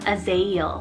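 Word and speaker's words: Azael: here on the boy's side is the name azale spell a-z-a-e-l a-zeo and it's hebrew originated meaning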